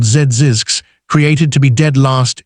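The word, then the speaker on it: Zzyzx: fake health spa, and named it Zisks, pronounced Zizix, so it would be the final listing in every directory.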